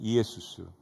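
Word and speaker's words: Ἰησοῦς: 원래 헬라어 발음은 이에수스, 예수.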